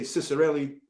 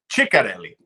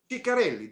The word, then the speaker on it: Ciccarelli: If you say Ciccarelli, they'll probably jump on you. It's because it's, Ciccarelli. Ciccarelli. That's the way to pronounce it because it's an Italian name.